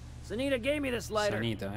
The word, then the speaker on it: Sanita: Questa incisione dice sanità, non sanità, non c'è l'accento. Sanita gave me this lighter.